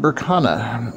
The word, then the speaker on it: Berkana: play with her food this room is pronounced Burana means Birch goddess birth